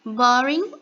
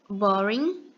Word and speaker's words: boring: novo fazendo algumas observações boring a gente não pronuncia a letra g no final então a pronúncia vai ter a letra N boring geralmente também é quando